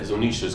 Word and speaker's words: Zunisha: forgetting how to pronounce the how do you pronounce it? It starts with a Z. The elephant. Zunisha.